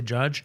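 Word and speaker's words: Judd: You know who might be a judge? Who's that? Judge Appattow. Get Okay, I got to get to work. But I think it's pronounced Jud.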